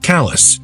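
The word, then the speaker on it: Calais: Callus, Maine, spelled like a French duchess, pronounced like Callus, and yeah, it kind of is.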